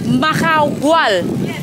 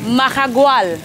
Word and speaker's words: Mahahual: How do you pronounce the name? Mahahual. Mahahual.